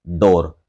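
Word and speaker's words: door: दोनों के प्रोनाउंसिएशन पर गौर कीजिएगा, दोनों के साउंड मैच होगी। जैसे मोर डोर, इनको मूर और डूर नहीं पढ़ा जाएगा।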